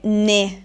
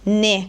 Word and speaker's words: né: Invece qui noi vogliamo dire ne chiusa, ne come perché chiusa.